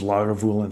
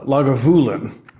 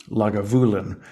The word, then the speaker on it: Lagavulin: my favorite Scotch was log of Woolen 16. uh lagavulin I've been corrected in the pronunciation uh the the accent is on the voo lagavulin uh I said holy